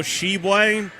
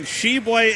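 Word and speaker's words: Tshiebwe: keeping score at home how do you spell shebway for oscar sheblay the uh big man there for the kentucky big blue nation sheboy is spelled t-s-h-i-e-b-w-e oscar sheblay and he hails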